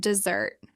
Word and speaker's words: dessert: Dessert and dessert. Desert has stress on the first syllable. It means sand and dryness. Dessert has stress on the second syllable.